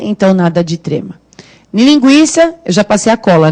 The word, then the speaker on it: linguiça: Linguiça, eu já passei a cola, né? Não é passeio. Quando a gente fala linguiça, esse U tem som e o I que é forte, né?